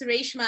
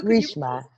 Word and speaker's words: Reshma: It's Reshma. And also, Reshma. Ray, like there's Ray of the sun.